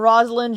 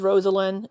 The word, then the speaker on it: Rosalind: Her name is Rosalind, spelled Rosalind, but pronounced Rosalind. Yeah. Did I say Rosalind? It's Rosalind. Yeah.